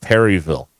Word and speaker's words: Perryville: Is it Burville or is it Purville? I think it's Perryville. Okay, we're going to pronounce the Y.